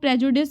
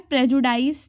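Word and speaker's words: prejudice: इसको हम लोग प्रेजुडिस पढ़ते हैं, प्रेजुडाइस नहीं पढ़ते।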